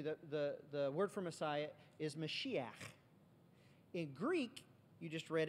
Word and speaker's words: Mashiach: That's exactly what Mashiach, you know you're saying it right when you spit. It's a guttural sound.